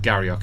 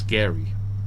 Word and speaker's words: Glengarry: It's not Garriock, it's Gary.